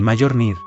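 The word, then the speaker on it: Mjölnir: El Mjolnir. El mayor Nir, así lo pronunciaban los suyos.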